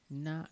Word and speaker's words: な: Na is pronounced like no in none.